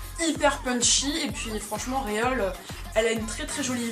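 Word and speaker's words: Reol: Alors, je la prononce à la française, hein, c'est Réole.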